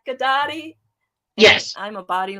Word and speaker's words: Ghedotte: uh yes yes and my last name everybody sounds like karate it's gennady or pilates so gaddadi yes i'm a body